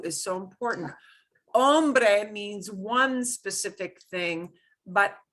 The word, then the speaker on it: hombre: Here's the thing you hear mispronounced in old 1930s, 1940s Western movies all the time. Hombres. Oh my God, awful. Hombre. Hombre, man.